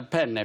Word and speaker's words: penne: But if you say penne, which is one N, you're asking for a penis.